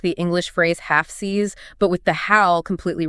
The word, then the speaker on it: Fsiis: It requires a quick push of air for the F, so just F-S, and then you slide immediately into a long, smiling E sound. And then you have to stick the landing. Yeah, on a sharp, hard S, F-siis. The ending is the critical anchor point. The documentation explicitly states it must not end in a buzzy Z sound.